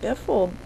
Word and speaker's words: biffle: You know, everybody knows how to say B-F-F-L. Like, best friends for life. Yeah. But, we just pronounce it biffle.